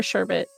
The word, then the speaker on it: sherbet: crawled up my spine thorbe sherbet or sherbet actually that one sherbet that's how you say it yeah sherbet like sherbet ice cream it was sherbe